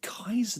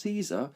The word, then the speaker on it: Caesar: Caesar which is pronounced Kaiser did you know sorry Julius Caesar Caesar is not pronounced Caesar it's pronounced Kaiser the professor said it